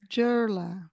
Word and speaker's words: Dieula: name correctly and so I give them a phonetic pronunciation which is kind of close so J R L A it's kind of close JLA yes I love it so